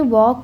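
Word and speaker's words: walk: वॉक में L silent रहेगा बच्चों। इसको बोलते हैं वॉक।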